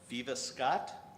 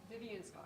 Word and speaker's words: Vivian Scott: we have an uh Viva Scott Vivian Scott Vivian Scott Vivian Scott okay I didn't put the n in my notes and that's why I said it wrong um but a real